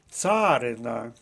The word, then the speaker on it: царина: Отож фаховий третій склад Царина наголос на першому складі це слово має два